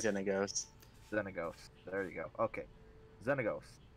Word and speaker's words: Xenagos: I of the four of us, Josh has the final fucking ruling on how it's pronounced. It's definitely right? Xenagos. Xenagos.